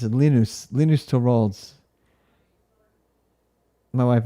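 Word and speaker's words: Linus: think is funny is all the people who mispronounced to wald's name it's lenus lenus to rals my wife is home and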